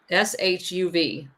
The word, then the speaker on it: Yishuv: And he actually is the one that created the Zionist paramilitary organization that operated, and how do you pronounce that one, Liza? Yeshuv? YISHUV.